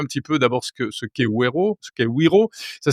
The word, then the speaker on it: Wero: Vous êtes responsable du développement de Wero, W-E-R-O, le porte-monnaie électronique européen, qui a 1